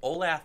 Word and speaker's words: Olathe: beat a team called Olathe North of Kansas, ran a perfect race. What was that pronunciation, Kyle? Olathe. Olathe North. All right, fine.